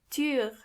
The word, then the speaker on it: Tür: This letter is pronounced ü. To get the sound, start with a normal u and then make your lips even closer to each other.